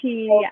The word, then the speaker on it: Chi: She, like the flat iron. You don't know Okay. about that. Exactly. I know about that. I know about that. Yes. So my name is Chi.